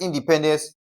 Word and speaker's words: independence: To stress independence, we have to place an emphasis on the third syllable from the last. Okay, so we have in de pen dence. So, dence is the last syllable or the first from the last. Okay, we have pen, second syllable from the last. We have D E. Third syllable from the last. So, the rule remains the same. Okay, so D E will be stressed. That is which of the options?